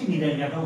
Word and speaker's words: Cnidaria: আমি অধ্যায়েও যাব, পাশাপাশি নিডারিয়াটাও বোঝাবো। ওকে, তো উচ্চারণটা কি দেখো, সি থাকছে না, NIDA নিডারিয়া।